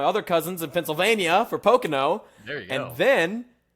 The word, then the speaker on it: Pocono: It's 3 Pocono. syllables.